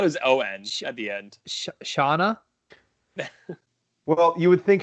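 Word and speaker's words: Shanann: i thought it was o-edge at the end shauna well you would think shannon yeah but it's chanan okay caucasian woman living in where are they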